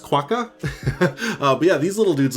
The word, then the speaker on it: quokka: kind of came onto the, I think it's pronounced Quokka.